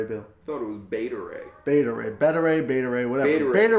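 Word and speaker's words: Beta Ray Bill: characters coming in Gardens the galaxy bond three better a bill super pronounce that name again better a bill thought it was beta ray beta ray better a beta ray what I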